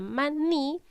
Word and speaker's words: maní: Por ejemplo, en la palabra maní, la sílaba ma es la sílaba átona. Y en la sílaba ni sería la sílaba tónica.